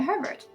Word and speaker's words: Herbert: eyes streaming with tears, Lavinia Herbert, whose name rhymes with sherbet.